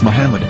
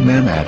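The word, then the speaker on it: מחמד: yehuda's Hebrew English dictionary it is correctly pronounced as Muhammad not mmad so how we're going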